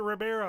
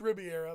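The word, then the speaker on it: Rivera: Riviera. Or is it Ribera? It's Riviera, but yeah.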